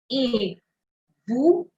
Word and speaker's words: et vous: So this is like the English alphabet A.